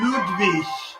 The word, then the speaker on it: Ludwig: Or Ludwig. That's actually how his name is pronounced.